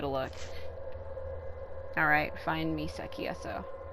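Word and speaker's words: Aso: Alright, find Misaki Eso. So they did change the pronunciation of that name. It used to be A-S-O-U, and now it's just A-S-O.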